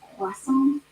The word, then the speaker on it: croissant: It's actually pronounced croissant.